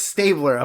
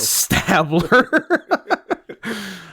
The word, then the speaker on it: Stabler: __ ] his name you you said all the right letters you just pronounced it weird Stabler what's Stabler not stabbler uh well I don't